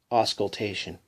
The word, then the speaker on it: auscultation: l dat io n phonetically it is spelt a WS k UL t a sh u n ass cult auscultation characteristics of the living